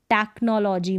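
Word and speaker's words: technology: के रूप में, जैसे टेक्नोलॉजी में है तो सी एच को आपने यहाँ पर देखेंगे च नहीं पढ़ रहे, हम पढ़ रहे हैं क, टेक्नोलॉजी में।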